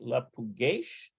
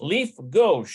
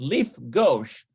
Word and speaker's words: לפגוש: Is it lepugesh? Lifgesh? Lepugesh. No, let's see. לפגוש. Lifgosh. לפגוש. Lifgosh. So it's almost like Lifgosh.